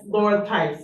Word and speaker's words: Laura Tice: oh, PDG, yes, yes, Laura Tice. Yeah. Did I say her name right? yeah, that's right.